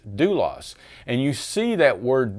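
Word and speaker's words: δοῦλος: the word so here the word would be pronounced dulos and you see that word dulos the definition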